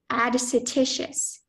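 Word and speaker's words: adscititious: first from something extrinsic are there any alternate pronunciations No just add satitious add satitious a d s c i t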